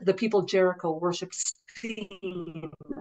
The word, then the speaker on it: Sin: people of Jericho worshiped seen the moon God which is spelled sin SI n and uh this is